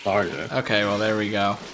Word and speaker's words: Tharja: at all, because in game she calls herself Tharja.